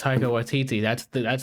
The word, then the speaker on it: Taika Waititi: Because it's Taika Waititi.